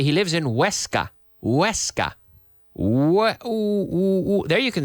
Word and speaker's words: Huesca: But you don't say, when you say Huesca, you don't say Guesca. You say Huesca. For some reason, the sound that comes after influences people's ability to pronounce the first part of the sound, and I don't know why. It's a psychological thing. If you can say Huesca, then you say ud, like good.